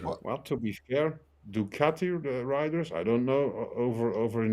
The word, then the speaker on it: Ducati: Italian pronunciation or enunciation. It's Ducati, but he's saying Ducati.